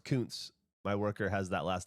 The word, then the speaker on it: Kuntz: The Kuntz card you pulled last week is pronounced Kuntz.